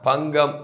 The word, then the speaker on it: பங்கம்: பகல் கே மோகம் ஆனால் பங்கம் என்பதுல என்னத்துல வருது என்றால் ஜி ஏ என்ற ஒரு உச்சரிப்புல ஜி ஏ என்ற உச்சரிப்பில